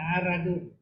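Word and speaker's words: عرض: sifat-sifat arara di sini sifat aradun bacanya aradun Ar Ain fathah ra fathah Nah ini bisa dibaca Ardun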